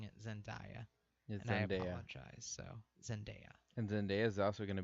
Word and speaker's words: Zendaya: her name is Bruce pronounced India I've been pronouncing it as India so zendaya and then there's also gonna be in the